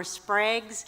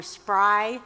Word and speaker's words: Spry: I pronounced the St. Mary's superintendent as Eleanor Spraggs, and that should be Eleanor Spry.